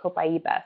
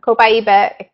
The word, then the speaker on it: copaiba: a while to learn how to say it copaiba them page 19 of your product guide so